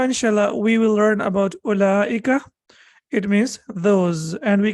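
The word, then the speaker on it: أولئك: Also, please notice that the waw of ulaika is not pronounced. It is not pronounced. It's an additional waw or extra waw. And when we read it, we will say ulaika.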